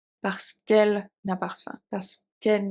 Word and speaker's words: parce qu'elle: It's simply in French because if we say parce que elle, it's not a good flow of pronunciation, so we have to remove one. Parce qu'elle n'a pas faim.